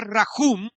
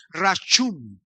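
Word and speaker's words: רחום: Bueno, se escribe rajum, pero se se pronuncia, creo yo, rachum.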